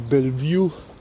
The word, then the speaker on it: Bellevue: in Tivoli Park by the Bellevue as we pronounced colloquially in Slovenia you know the beautiful